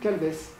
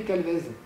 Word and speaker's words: Calvez: On dit, quand je demande mon nom, on me demande mon nom, je dis Calves. Je ne dirai jamais Calvez. Ça s'écrit C-A-L-V-E-Z. Mmh. Mais influence du breton, assourdissement de la consonne en finale.